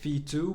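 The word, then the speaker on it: VTWO: the the third one I call it V2 but you actually spell it v t w o which is the Vanguard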